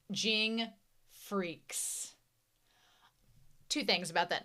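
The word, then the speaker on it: Freecss: But also with the CSS on the end, it spells freaks. It's pronounced freaks.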